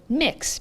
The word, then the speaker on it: Mx: for pronunciation MX is pronounced like mix like you're mixing things together so it's mixed Sequel